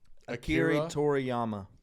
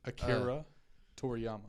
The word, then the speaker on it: Akira Toriyama: see where the U that guy can you pronounce that for me K Akira Toriyama Akira Toriyama it's a dude who invented a Dragon Ball